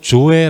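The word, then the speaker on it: ζωή: 있는 생명 이라는 단어는 헬라어로 조회 라고 발음하는 데 이 의미는 투성 안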